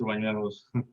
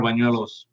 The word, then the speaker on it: Bañuelos: Bañuelos. Juaneros. Pañuelos. Pañuelos. Yeah, correct. I know I'm not saying it right. Manuelos. Bañuelos. Yeah. Bañuelos. Like manual, but with the huelos. Yeah. Yeah, with the B.